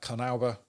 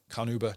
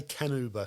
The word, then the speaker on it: carnauba: now um then uh carnauba carnuba nuba however you want to say it pronounce it i i still an uber is cool don't say can uber because you you get your head bitten off by the with the wax makers as i found out